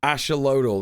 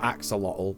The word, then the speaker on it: axolotl: proliferation of the oceloto salamander asholotl that's apparently how you say it not Axolotl the Chinese now we